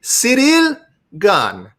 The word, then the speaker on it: Ciryl Gane: about this chad it is it is gun it is cd serial gun serial gun literally every time i